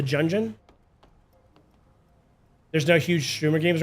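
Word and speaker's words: Gungeon: Um, it's not Gun. It's like Junjun or something like that. Enter the Jungeon.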